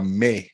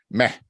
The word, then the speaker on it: meh: where they're in a May state right meh State as I should pronounce it and then I